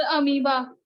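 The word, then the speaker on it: amoeba: यही इसको एमोइबा बोलेंगे ना भाई? सर अमीबा। अरे वही यार, एमोइबा जो बोल लो।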